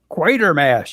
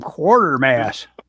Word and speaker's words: Quatermass: Quatermass. You guys have got something about wanting to change that word into quarter or quarter. You always call him Quartermass. It's spelled quarter. It's Quater. Quater.